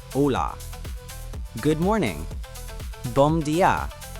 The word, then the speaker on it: Olá: Pronounced ola.